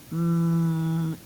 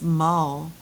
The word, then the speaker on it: mule: Mule. What's the word? Mule. Mule. Without the silent E, it's mull. With the silent E, this becomes a U sound.